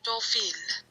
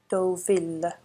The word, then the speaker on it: Deauville: I'm going to Google how you're meant to pronounce it because it's just getting ridiculous now. French, Deauville. Deauville.